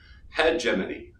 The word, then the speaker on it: hegemony: much more detail of course something called hegemony pronounced in hegemony and a 1920s Italian sociologist by the name